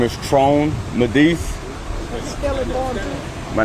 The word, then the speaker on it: Tron: I'm sure what's your name my name is trone medise my name is Tron madis spelled t-r-o-n last name medis m as in